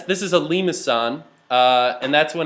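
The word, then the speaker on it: limaçon: is lemons maybe uh this is called a limousine uh that's like a soft C actually um technically the symbol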